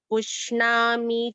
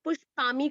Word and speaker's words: पुष्णामि: गामाविश्य च भूतानि धारयाम्यहमोजसा पुष्णामि चौषधी सर्वः। ध्यान से देखिए, पुष्णामि, ये पुष्प, कई लोग उच्चारण में पुष्पामी करते हैं इसको, जो मतलब पॉपुलर मिस्टेक जो है।